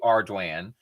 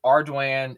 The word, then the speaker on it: Ardoin: wrong on purpose but the correct name is arduan because my last name is arduan it's a Cajun French word and then my my